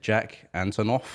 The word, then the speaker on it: Jack Antonoff: name real fast how do you say it Jack Antonoff oh okay jokes Jessie's good jokes already guitar